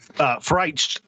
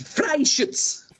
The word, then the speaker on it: Freischütz: Freich. It's Freischütz. Freischütz. Picolage. Like fried shits. If you take the shit and you fry it, it's like a fried shits.